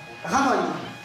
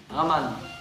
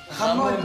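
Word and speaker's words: Ramón: Ramon. Raman. Ramon. Comme si tu ramones quelqu'un.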